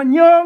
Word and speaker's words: เย็น: เย็น เ ๆ ๆ ตัว นี้ มัน เป็น ย ยักษ์ ตัว เดียว ก็ อ่าน ว่า เยิง เนี่ ๆ ท่าน โปด